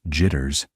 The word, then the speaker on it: JTRS: The Joint Tactical Radio System, or JTRS, pronounced jitters, became one of the Pentagon's most ambitious and, honestly, most troubled programs aimed at solving this.